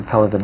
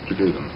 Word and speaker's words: Pelevin: Russians pronounce Pelevin.